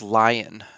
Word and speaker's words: Lean: Oh, but his name is pronounced Lion for some Yes, reason, which is really obnoxious.